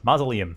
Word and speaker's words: mausoleum: It's pronounced mausoleum.